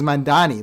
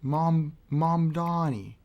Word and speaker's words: Mamdani: Mr. Elu says Mandani. That's a pronunciation I haven't heard yet.